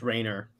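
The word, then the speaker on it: Rayner: him as Kyle Rainer it's pronounced Rainer it's not Mount Rainier but anyway but yeah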